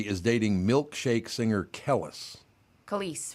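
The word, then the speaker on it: Khaleesi: Khalees is how you say it. It is Khalees, okay.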